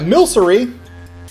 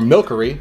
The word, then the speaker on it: Milcery: nice all right so we got milcery or milkery depending on which way you want to go with that pronunciation i personally prefer milcery we've got growlithe impedim